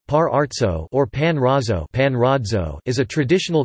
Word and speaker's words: Parrozzo: Parrozzo, Italian pronunciation, Parrozzo or Panrazzo, is a traditional cake from the region of Abruzzo, in Italy.